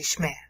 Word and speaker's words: Shema: Like they don't say Shema anymore, they say Shmeh or Shmeh. Okay, because there's sort of a liquid sound there.